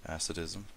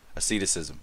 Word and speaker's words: Asceticism: Did he not get a Ascetism? Nice. Or Ascetism? Asceticism.